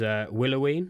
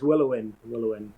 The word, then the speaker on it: Willoween: Is that the right pronunciation? Because I remember this is the one thing I always got wrong. George used to tell me off for it. Yeah, George, the drummer. It's Willowin. But to be honest, okay.